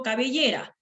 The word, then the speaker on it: cabellera: Pero ¿qué pasa si yo digo cabellera? Si la veo cabellera, K, B, Y, ra. Entonces, cabellera tiene la sílaba tónica, la mayor fuerza de voz aquí. Entonces, es una palabra grave.